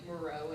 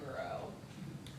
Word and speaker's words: Moreau: So I think potentially like some of the schools I'm thinking of are like Bishop O'Dowd in like Oakland and like Moreau and Hayward.